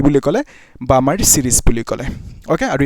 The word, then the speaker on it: Balmer: ঠিক তেনেকে আহিব তোমাৰ বামাৰ সিরিজ ওকে সো এনেকে নাম্বাৰ 2 টো কি হ'ব যে বামাৰ সিরিজ ওকে নাম্বাৰ 2 টো BALMER বালমাৰ সিরিজ বুলি কয় বামাৰ সিরিজ এল টো সাইলেন্ট থাকে সো এই যেটো বামাৰ